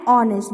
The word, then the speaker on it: honest: So we have to write N R, and honest, because we can see that we are pronouncing honest, okay? Honest. We are not saying honest. We are not saying hour. We are not pronouncing the letter H.